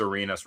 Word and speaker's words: Arenas: but it's just because Arenas rhymes with arena, and I thought that was funny.